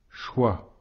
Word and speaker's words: choix: ne se prononce pas choix ici le X à la fin du mot ne se prononce pas non plus heureux encore une fois